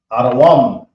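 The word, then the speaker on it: אדום: Now we have Edom, which is Adawam.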